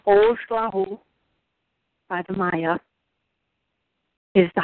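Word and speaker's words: Oxlajuj: 13, pronounced Ojlahu, by the Maya, is the highest number in the cycle, the numeric cycle of the sacred calendar.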